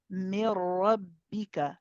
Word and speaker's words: من ربك: The ra will be heavy, and yeah, so the ra will be heavy, and there is no ghunna. There is no, we do not send the voice through the khayshum. The khayshum is through the nasal cavity. So there is no sort of ghunna sound associated with this.